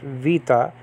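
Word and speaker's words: βήτα: in biblical greek okay the modern greeks have you know they have a v they use the beta that's why they pronounce it vita and that can be a v okay like in the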